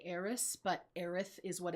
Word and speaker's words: Aerith: This is Aerith Gainsborough, also known as Eris, depending on the translation that you see. In the game that we play, it will say Eris, but Aerith is what it's actually supposed to be, and